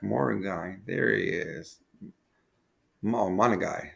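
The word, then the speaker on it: Monangai: Monagai. That's how you, I believe that's how you pronounce it.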